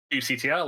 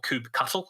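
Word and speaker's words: kubectl: all familiar with kubernetes you'll have uctl or coop cuttle however you want to pronounce it i don't like google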